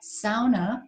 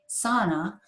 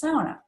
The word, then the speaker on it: sauna: Those of you who are half Finn like me know that sauna is the correct pronunciation, not sauna. It is sauna.